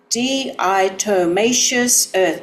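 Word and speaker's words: diatomaceous earth: D Itoacious Earth.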